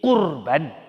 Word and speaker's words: kurban: ibadah qurban ibadahmu ada korban Coba kalau korban korona go ini kurban hati-hati Om bacanya kalau Kurban artinya mendekatkan diri kepada Allah Subhanahu Wa Ta'ala